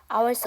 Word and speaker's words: hours: 단어가 있어요 뭐죠 아죠 h 5로 시작하는 단어는 h 무음입니다음 그다음에 두 시간이기 때문에가 붙는데 이건 복수형 어미니 정확하게 발음을 안 하셔도 되고요 뒤에가 어라는 모음으로 시작하니까를 넘겨 주시면 돼요 hours ago 이렇게 되겠죠 자 그럼이 문장